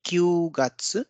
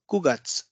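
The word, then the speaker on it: 九月: used hachigat's August September so here you can see it's not Q gutsu it's kugats then we have yogats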